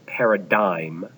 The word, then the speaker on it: paradigm: GM but it's pronounced Paradigm even so that g that g is silent but a paradigm is